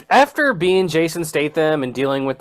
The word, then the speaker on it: Statham: gonna need is it Jason Stamos or States okay we had this problem last time too and you couldn't figure out how to say this man's name it's Statham Statham it's not John Stamos John Stamos Jason